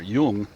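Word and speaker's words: jung: but the prefix there Yung y u n g uh I'm sorry no it's j n it's pronounced with as if it's a y ju NG uh is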